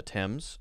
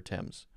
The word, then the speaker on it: Thames: signing thames examining combining this is a river in london that goes through london the thames i'm pretty sure it's like t-e-m-s basically thames or fames fame or teams wow three pronunciations i prefer tims thames examining combining scholar